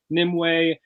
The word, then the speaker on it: Nimue: Yeah, it's Nimue. It's Nimue. Okay, that's not how I said it. Were you saying Nimu? Nimue, yeah.